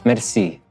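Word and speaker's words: mersi: want to teach you is merci and you're like what this sounds familiar yeah it is very familiar because that's how you say it in french right thank you merci and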